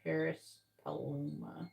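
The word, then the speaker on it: Paris Paloma: on the the lyrics the song labor by Paris pluma labor from Paris paluma yeah that's how you say it so they're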